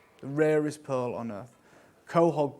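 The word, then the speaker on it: quahog: rarest Pearl on Earth coh hog pearls as as you can see pronounced Cog yeah I actually get it's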